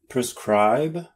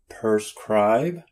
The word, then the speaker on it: prescribe: Prescribe? Prescribe? No, prescribe.